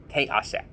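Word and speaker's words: תֵּעָשֶׂה: A tav, a yud, ayin, sin, meaning a shin, but the dot is to the left side, so it's a soft sound, and a hey, te'aseh.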